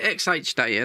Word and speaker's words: XHDATA: xh data xh data we call it xh data they they contacted me